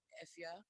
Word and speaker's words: Efya: I would say my name is Jane Awendo from Ghana, but my stage name is Efia. You spell it Efya.